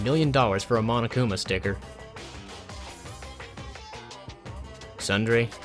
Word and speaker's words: Tsundere: Sundere? T is silent. Was I pronouncing the T? I probably was. I wasn't supposed to.